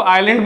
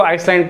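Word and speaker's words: island: उसके बाद everyone group of आइलैंड्स, है ना, आइलैंड, पहली चीज कि इसको आइलैंड पढ़ते हैं, आइलैंड, ठीक है, एस साइलेंट होता है, एस की आवाज नहीं आती, बहुत लोग इसको आइसलैंड पढ़ते हैं।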